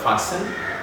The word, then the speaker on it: fasten: basalt castle castle and then we talk about fasting not fasting but fasten again just like when it